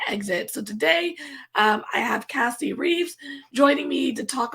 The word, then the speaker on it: Casey: Hi, Cassie. How are you? Good. And I won't judge you for saying my name wrong, but that's okay. Did I? No, it's God. Casey.